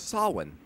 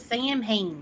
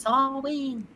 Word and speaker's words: Samhain: It's pronounced as Samhain. How you doing, by the way? Everyone says Samhain, and it ain't Samhain, it's Samhain. I honestly don't really chase people down for it because, like, obviously Celtic is a weird language.